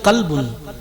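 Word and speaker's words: كلب: আপনি ওটাকে যেই বলছেন কলবুন, কলব আর কলবুন, শুধু ভাবেন একটা বড় কাপ আর যেটা আমরা ভাষায় বলি ছোট কাপ, যার নোক্তা নেই, নোক্তাবিহীন।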